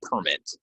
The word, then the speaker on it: permit: park I have a permit so permit permit permit permit if it's a noun goes on the first if it's a verb goes on the second syllable um again I'll post